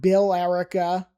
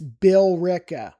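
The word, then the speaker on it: Billerica: It's not Bill Erica. It's Bill Rick. The E is pretty silent.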